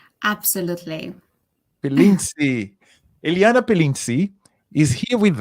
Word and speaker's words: Pilintisi: Am I pronouncing your surname correctly? Absolutely. Pilinzi.